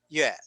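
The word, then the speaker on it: 月: Like for instance, this character and its pronunciation, yue, yue, yue.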